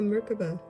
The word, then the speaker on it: Merkabah: whoa it's the merkabah or merkaba depends on how you want to pronounce it it is the symbol